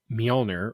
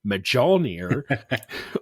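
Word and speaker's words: Mjölnir: So what it does is on reveal, shuffle Stormbreaker into your deck, and then Stormbreaker, similar to Mjolnir, or as I pronounced it when I was a child, Mjolnir, on reveal, double Beta Ray Bill's power.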